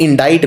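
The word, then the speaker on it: indict: तो इंडाइट में ये बीच में सी आता है, ये प्रोनाउंस नहीं होता, इसका उच्चारण नहीं किया जाता, लेकिन लिखने में ये आता है।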